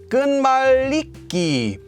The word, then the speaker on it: 끝말잇기: connecting so connecting words this is actually pronounced according to sound change rules as gun maliki why is that well